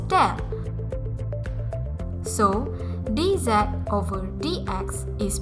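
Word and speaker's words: ∂: respect to x and the very common notation used for partial differentiation is pronounced as del so dz over dx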